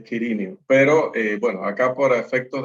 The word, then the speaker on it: Quirinio: En realidad sí se debería pronunciar el nombre, según las mejores fuentes. Ok. Es Quirinio.